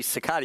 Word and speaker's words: Cicada: on his iPad, and it is apparently Cicada. It was pronounced clearly Cicada. You heard it, too. I heard it. It was right before we came back from It was the commercial. Migliori family pronunciation website, but nonetheless, it was Cicada. So we're going with Cicada.